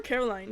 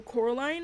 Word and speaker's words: Coraline: I remember when I was younger, I could never say her name properly. I was like, I would call her Caroline, you know. And then um you know, people were like, "Oh, Coraline."